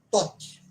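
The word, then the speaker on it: Thoth: Um outro termo em seguida ao Torá, ensinado pela Blavatsky, é justamente o nome Tot. Como é que se escreve?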